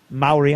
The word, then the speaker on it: Maori: War army as most people know is a Maori Maori I know how to say it now see